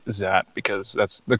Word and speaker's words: Xat: Yeah, well, people pronounce it differently, but I say Xat because that's the correct pronunciation.